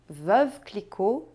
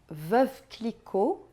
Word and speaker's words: Veuve Clicquot: Você percebeu que em nenhum momento eu pronunciei o T no final? Pois é, essa é mais uma das regras importantes e fundamentais da pronúncia francesa. Na maioria das vezes, nós não pronunciamos as consoantes finais em francês.